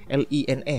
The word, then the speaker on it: LINE: aplikasi chatting yaitu LINE, L-I-N-E, LINE ya bacanya.